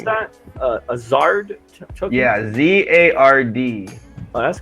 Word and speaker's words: Zard: Actually, I created one called the How do you Zard pronounce token. that? A Zard token?